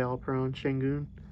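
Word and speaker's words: Alperen Şengün: got a very nice hollow of my guy all prone shingoon that's how you say it i really like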